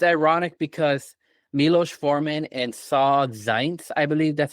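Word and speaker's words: Saul Zaentz: So it's ironic because Milos Forman and Saw Zaentz, I believe that's how you pronounce his name.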